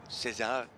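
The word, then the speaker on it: César: down the Moroccan flag Little Caesar Cesar that's actually how it should be pronounced in French made his first trip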